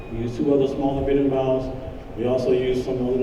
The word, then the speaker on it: berimbau: Yes, berimbau.